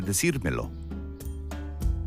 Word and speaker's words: decírmelo: We add an accent mark to the infinitive, or present participle, in order to preserve the emphasis on the correct syllable. Listen carefully. Me lo quiere decir. Quiere decírmelo.